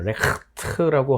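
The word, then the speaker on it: Recht: 약간 가래 끓는 소리로 하시면 굉장히 좋습니다. 레흐트라고 하시면 아주 정확한 발음이 될 텐데, 저 레흐트를 영어로 바꿔보십시오.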